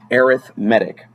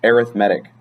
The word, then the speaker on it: arithmetic: it's an adjective so this word as an adjective is pronounced arithmetic this word as a noun meaning I'm going to do some math is arithmetic thanks English but it's